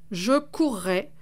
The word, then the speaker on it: courrai: Attention toutefois, certains verbes, comme courir ou mourir, doublent le R, et se prononcent donc « je courrai, vous mourrez ».